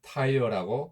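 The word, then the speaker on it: Tyre: 두로는 헬라어로 튀로스, 라틴어로 튀루스라고 하고 영어로는 타이어라고 발음하고 우리말로는 티레라고 하기도 합니다. 히브리어로는 초어인데 바위라는 뜻을 가지고 있습니다.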